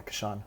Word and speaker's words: Kashan: Is that how you say it? Kashan? Cool, yeah, Kashan, okay.